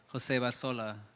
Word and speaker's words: José Barzola: I try to go with José Barzola, the original pronunciation of it.